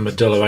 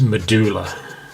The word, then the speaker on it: medulla: in the medulla oblongata the American pronunciation for medulla I believe is medulla in England is most definitely medulla so that's the medulla